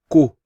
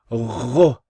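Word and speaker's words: غ: Some people, they pronounce this incorrectly and they say ku or hu. No, ghu, ghu. Like you're saying to someone, go.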